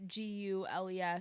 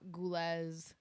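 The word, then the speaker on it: Giul: But the issue with that is like my name is spelled G I U L and people people look at my name and look at me and I don't nobody knows how to say my name for God knows what reasons. And so it just it was gu and then I got goules ghoulies and I just was not doing that.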